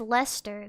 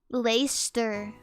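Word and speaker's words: Leicester: It's pronounced leester. Then why did they spell it like that? Lacster. What? I don't even know. I don't even know. I don't I don't even know. That is a state. Same logic as Warchester.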